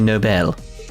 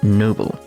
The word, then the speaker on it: noble: your own discretion just like a nobel it's pronounced noble but it doesn't take